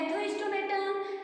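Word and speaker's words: Gnathostomata: तो कह रहे हैं प्रोनाउंस एशन क्या है नथो स्टोमेटा लेकिन लिखे जाएंगे जी नथो स्टोमेटा स्पेलिंग जी से होगी जी नथो नथो स्टोमेटा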